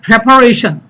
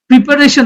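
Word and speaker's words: preparation: তাহলে প্রিপারেশন, প্রিপারেশন না, এটা হলো প্রেপারেশন, প্রেপোজিশন, অর্থাৎ PRE, এটার উচ্চারণ প্রি না করে আমরা উচ্চারণ করব প্রে।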